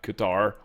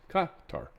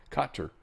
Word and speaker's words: Qatar: Not Qatar or Carter. It's Katar. Katar.